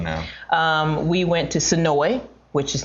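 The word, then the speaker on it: Senoia: I'll let you know um we went to sonoi which is not sonoya for those folks who pronounce it sonoya it is just south of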